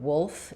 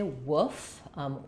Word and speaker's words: wolf: Okay, we have a question about whether or not the L in the word wolf is silent. No, we don't say woof. Wolf. It's like the word wool plus an F.